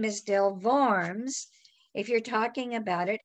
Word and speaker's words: Worms: have to remember that the letter w in german is pronounced like the english v so from a pronunciation standpoint the name is del varms if you're talking about